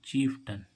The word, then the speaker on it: chieftain: तो इसको हम क्या पढ़ेंगे, चीफ्टन। चीफ्टन मीन्स होता है मुखिया, चीफ 10 नहीं पढ़ेंगे हैं, या चीफ या नहीं पढ़ेंगे, या इसको क्या पढ़ेंगे, चीफ्टन।